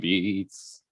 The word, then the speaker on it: Beetz: That's how you have to say her name. Or at least that's how I say it. Beetz.